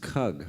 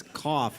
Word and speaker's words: CUGH: The first thing I learned was from Leighton that CUGH is pronounced CUGH. I thought it was cough, which I thought was an odd acronym for a health group.